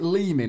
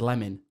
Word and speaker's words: Leeming: playing, and I swear a commentator said Lemon, and I was like, are you sure, fella? Yeah. And then you said it's spelt Leeming, so it must be Leeming.